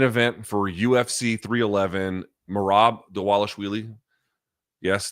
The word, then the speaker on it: Dvalishvili: for UFC 311 morab deales yes the V is pronounced like a w apparently I don't make these